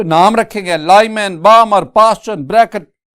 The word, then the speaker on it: Balmer: Student इसमें ना L silent है तो बाल्मर नहीं, बामर सीरीज।